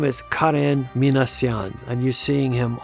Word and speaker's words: Karen: And by the way, that's the way you pronounce it. It's not Karen, but Karen.